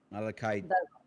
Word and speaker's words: malachite: griffin has talons probably look kevin the correct pronunciation is this malachite malachite right good um you can make a